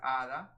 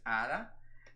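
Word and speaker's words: hada: Spanish for Fairy is Ada which age we don't pronounce the h h mute in Spanish so it's Ada and it just means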